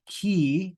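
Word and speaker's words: χ: Then we've got ki, which is pronounced like CH in chorus, like ka, ka, ka, right? It's a ka sound with a breath.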